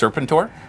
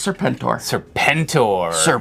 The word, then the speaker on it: Serpentor: Here, I'll give you— You sure it's not pronounced Serpentur? No, it's Serpentor.